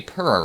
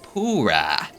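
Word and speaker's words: Purah: And also, that reminded me that I always say purr wrong. Apparently, it's pronounced pura.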